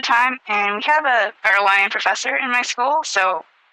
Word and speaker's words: Uruguay: Uruguay, or Uruguay, is more of an English pronunciation.